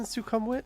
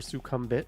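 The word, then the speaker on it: Sukhumvit: stay say stay in sukum wit like or suum bit if you want to be a tourist who pronounces it wrong uh it's the most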